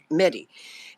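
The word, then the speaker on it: Mehdi: about a gentleman named Mt medy is it pronounced medy it is yes mehd medy and he was then the Secretary General of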